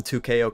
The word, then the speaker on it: 2XKO: up I got some 2ko content for you guys yes the x is silent no I will not